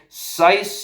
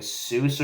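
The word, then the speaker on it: Suess: s u e SS I thought it was like Seuss or something like that but it's SC I had to like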